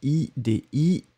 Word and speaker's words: idiotie: Donc, idiotie, vous l'écrivez, I-D-I-O-T-I-E, et donc on le prononce si, idiotie.